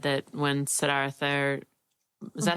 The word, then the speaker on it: Siddhartha: I was thinking about when they talked about Buddhism, and they said that when Siddhartha, is that how you say it? Yeah, Siddhartha.